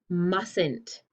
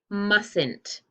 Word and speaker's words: mustn't: pronounce this we say mustn't so it's tricky because the t is still here but we don't pronounce it listen again mustn't instead of saying you